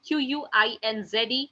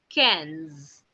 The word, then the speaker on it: quinze: 15 is written down as QUINZE, which is pronounced as quinze, quinze.